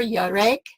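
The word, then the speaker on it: יָרֵחַ: We have basically learned here in the last couple sessions that 3391, Yarak, and 3394, Yarek, that's how you say it.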